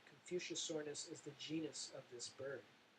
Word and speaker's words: Confuciusornis: one right here and it's Confuciusornis is how you pronounce that Confuciusornis is the genus of